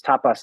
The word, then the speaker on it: tapas: It's um it's spelled the same way as like Spanish tapas, but it's like it's tapas in in in Sanskrit.